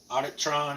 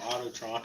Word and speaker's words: Auditron: Auditron is here with me. Yeah, I said it right finally. Auditron. I've been calling him Autotron all this whole time.